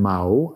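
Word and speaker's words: Mãe: Walter Hugo, chyba się nazywam Mao, wymawiam Mao, M-A-E, ale z falką nad A, nazwisko portugalskie.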